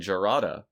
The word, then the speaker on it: Jarada: uh the racial analog to pronounce it with an h like once you get the j in there it kind of loses some of that the hard j exactly so i can